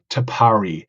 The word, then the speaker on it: Tapari: And before we start this recording, we have been a little bit thinking about how to pronounce it, but we settled on Tapari.